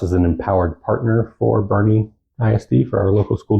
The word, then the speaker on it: Boerne: where the hell are we so we're in Bernie Texas born if you look at the map